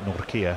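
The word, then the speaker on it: Nortje: African friend who basically it's the noir of Norway and the kir of I care and if you put those two together you've got Nokia and then you're spot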